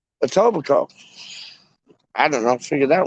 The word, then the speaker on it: Etobicoke: But it's like pronounced Etobicoke.